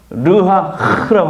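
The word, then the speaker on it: רוח: 거예요 여기서 생계는 히브리어로 르하라고 합니다 그래서 흐 발음을 잘해야 돼요 흐 발람 할 때 르하 흐흐 이러면 안 되고요 르하 이거 할 때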